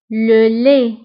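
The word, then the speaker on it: le lait: الحليب لو لي لو لي. انتبهوا بالنسبة لو لي كنكتبوها بالتي في آخر الكلمة ولكن لا تنطق لو لي.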